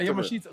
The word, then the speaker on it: Yamashita: Yeah, Yamashita. Because I pronounce it Yamashita.